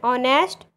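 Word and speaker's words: honest: जिन शब्दों में S silent होता है उनसे पहले एन का प्रयोग किया जाता है। एग्जाम्पल्स में देखते हैं an year, an ऑनेस्ट, एन हार।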